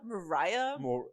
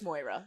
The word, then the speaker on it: Moira: You cannot sound your name out. Mariah? Moria. Yeah. It's Moira.